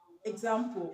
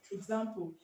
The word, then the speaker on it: example: Now, a word like example, okay, example. The e is pronounced ig, okay. The e is pronounced ig, okay. Example, example, example, or example, okay. The letter e is pronounced ig or egg, okay.